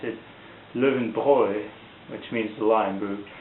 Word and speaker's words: Löwenbräu: be a list there and I thought it's pronounced living brow but it's actually in German the German folks they pronounce it Living Boy which means the lion Brew anyways before that